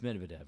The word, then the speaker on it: Medvedev: Medvedev? It's Medvedev.